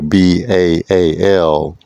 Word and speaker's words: Baal: That's the one bull, that's the B-L-E, or the B-A-L-E, or the B-A-A-L, pronounced Baal.